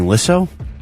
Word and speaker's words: Lissow: So, my mom and I have been saying Lisso my entire life.